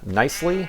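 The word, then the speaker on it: Knisley: I think I'm going to butcher it, but it's Lucy Nicely. It's spelled Knissley, but I think it's pronounced Nicely.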